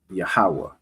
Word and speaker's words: Yahweh: Yahweh.